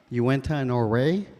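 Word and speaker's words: Uintah and Ouray: enrolled member of the Northern New tribes it's pronounced Uinta Norway so just kind of clarify that and thank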